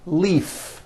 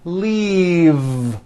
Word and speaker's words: leave: glove alive and leave this last word leave is very different from the word Leaf like from a tree which has an unvoiced F the word is leave with a voiced V keep